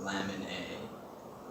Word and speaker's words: LMNA: HGPS is caused by a mutation in the gene called LMNA, pronounced lamin A.